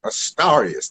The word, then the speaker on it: Astarius: And you pronounce that Astarius. Think of the stars rather than the stairs.